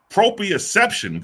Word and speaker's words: Proprioception: Proprioception. Good night. All right. Proprioception. That's a goddamn word for your ass. Proprioception.